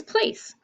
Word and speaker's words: place: So we put our long A there, and the E is silent, And what's the last thing we have to mark that we just learned yesterday? Yeah, the C says, so we're going to put the sound of the S above it.